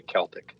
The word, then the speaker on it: Celtic: I say Celtic. Me too. It's a hard C. Yeah. It's a hard C. Two hard C's there.